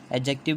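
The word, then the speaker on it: adjective: हम चलते हैं एडजेक्टिव एडजेक्टिव बोलते हैं इसको दी जो होता है साइलेंट होता है शिफ्ट विच इसकी जो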